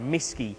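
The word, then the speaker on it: MSSCCI: have this thing called a MSS CCI provider misy is how that's pronounced so a misy provider allows you to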